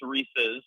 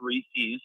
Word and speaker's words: Reese's: It's Reese's, not Reese's. Okay, let's let's try to make sure we get this correct.